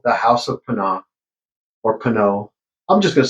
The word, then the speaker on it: Pinaud: And uh yeah, so the club in Panad um and I believe it's pronounced pano or pana because it is a French product.